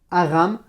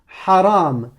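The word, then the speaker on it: حرام: Si tu me prononces que la voyelle, si tu me dis A comme Hajj, Alouf, Aram, Halal, Hakim, là c'est pas bon.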